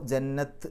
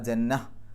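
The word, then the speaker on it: جنة: ഹാ ആണെന്ന് വിചാരിച്ചിട്ട് നിർത്തണം അപ്പൊ ജന്നത്ത് എന്നല്ല ജന്നഹ് ജന്നഹ് എന്നുള്ള ഉച്ചാരണം ഹാഇന് സുക്കൂന് കൊടുക്കുന്ന ആ ഒരു ഉച്ചാരണമാണ് അവിടെ വരേണ്ടത് അല്ലാതെ താന് സുക്കൂന് കൊടുക്കുന്ന ഉച്ചാരണം അല്ല അപ്പൊ ജന്നഹ് എന്നുള്ള രൂപത്തിലാണ്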